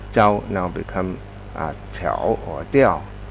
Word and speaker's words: 调: up the music, then it should pronounce it Diao, and that's why that TTS is correct.